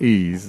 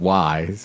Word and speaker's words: Ys: well just wires and is pronounced ease instead of wise because why because because sometimes why the so that that had a new title recently call ease origins which is a